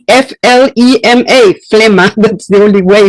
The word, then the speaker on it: flema: ridiculous to have an explanation of how to pronounce flema. It's f l e m a flema that's the only way in which we pronounce that.